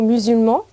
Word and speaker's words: musulman: exemple dans le mot musulman le musulman s'écrit avec un S mais se prononce comme un Z et là l'enfant porte